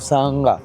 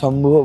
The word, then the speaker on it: সায়াঙ্গা: সায়াঙ্গা, এখানে উচ্চারণটা অনেকের হয়তো প্রবলেম হতে পারে, অনেকের শম্ভু বলছে, কিন্তু এটা অরিজিনাল হচ্ছে সায়াঙ্গা শিব মন্দির।